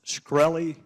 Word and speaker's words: Shkreli: Carolina uh thank you Mr chairman is it pronounced scy yes sir see there you can answer some